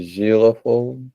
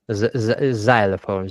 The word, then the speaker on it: xylophone: Uh zilophone. Xylophone. Xylophone. Xylophone. Zil I. It's I. Yeah. Xylophone.